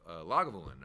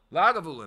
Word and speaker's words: Lagavulin: that's what I thought I thought it was lagavulin but I wasn't going to emphasize my emphasis on the wrong cabble and make it sound like it was the right thing so um the uh